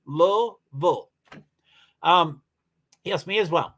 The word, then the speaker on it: Louisville: I'm originally from Louisville two syllables that's how you spell it too low bull um yes me as